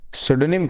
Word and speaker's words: pseudonym: करके, मतलब दूसरे नाम को यूज करके, इसकी स्पेलिंग जो है मैं सही से लिख दूं, सुडोनिम कहते हैं इसको, PSEUDONYM।